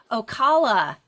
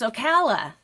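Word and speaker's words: Ocala: I've been saying Okala. It's Okala. I mispronounced it.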